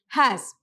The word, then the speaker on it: HaaS: You can also pronounce it as HaaS.